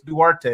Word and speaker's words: Duarte: here are wanting us to talk about chris duarte is that how i say his name harrison